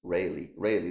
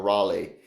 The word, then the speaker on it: Rayleigh: Rayleigh, that's how you, or Raleigh. I've seen several pronunciations on this.